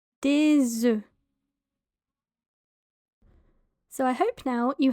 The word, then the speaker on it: des œufs: So multiple eggs would be des œufs. Des œufs. Des œufs. As you can hear, there's a slight z sound, a z sound. That is a liaison between the s and the e. Des œufs.